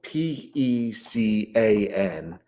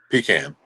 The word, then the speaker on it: pecan: It's spelled Pecan. How do you pronounce that? Pecan.